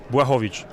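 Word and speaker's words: Błachowicz: Sebastian Miller Martinez, MMA Net, here with Jan Blachowicz. I'm sorry, I probably mispronounced your name. You can say it for real. Blachowicz.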